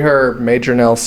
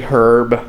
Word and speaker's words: Hryb: Larry Herb, Major Nelson, yeah.